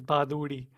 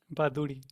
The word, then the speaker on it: Bhaduri: name Chris um but the actual uh in Hindi is baduri baduri it's like a DDI at the end that's thanks to an r and uh that's quite